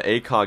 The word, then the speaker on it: ACOG: hundred dollars oh my god guys yo the ACOG is powerful yo dude actually pronounced a cog the Akalis elite sniping by